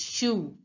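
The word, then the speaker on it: chou: pronounced as Shu sure CH is pronounced and o u is sound when it's written together it is pronounced as so it becomes shoe shoe now listen to the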